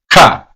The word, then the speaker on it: ka: K is pronounced as Ka.